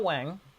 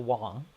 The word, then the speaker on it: Wong: So Michelle Wang, Michelle Wong is actually the correct way to pronounce her name.